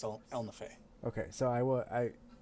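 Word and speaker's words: Ehlnofey: i have it spelled in my book it's pronounced el nafe okay so i will i i was right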